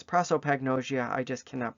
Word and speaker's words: prosopagnosia: prosperopagnosia so prosperopagnosia pro it's written out as prosopagnosia but it's prosperopagnosia and i'm even saying it wrong it's prosopagnosia i just cannot pronounce